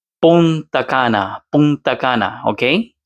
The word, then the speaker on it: Punta Cana: And for your information, it's Punta Cana. Punta Cana, Punta Cana, okay? C A N A, not Kanta. I'm not trying to put him down, just saying Punta Cana, that's how you pronounce it properly.